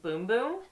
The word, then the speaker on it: Bum Bum: The first one is the Brazilian Bum Bum Cream. Now, I read somewhere that it's actually pronounced boom boom, that's how you say it. That's how the Brazilians say it.